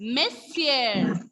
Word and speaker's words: monsieur: Here, ending letter S will be silent. See, I put a cross mark over there. Ending letter S will be silent and the pronunciation will be monsieur.